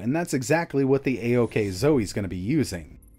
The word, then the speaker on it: AOKZOE: from a company called aok zoe i know these handheld names are getting a little out of hand but in english this is pronounced a-ok zoe and the word a-ok